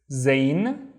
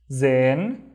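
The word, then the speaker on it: زين: This is zane. Zane. How do you think we pronounce it? Zen. Zen.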